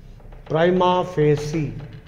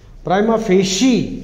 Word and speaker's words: prima facie: Prima facie. Prima facie, that is how they are pronouncing it.